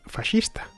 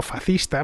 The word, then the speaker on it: fascista: Ten en cuenta que fascista es un término tomado del italiano, lengua en la que se pronuncia fascista.